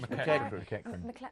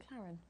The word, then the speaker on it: McEachran: They always go Josh McEachran. Oh, I thought it was McLaren. No.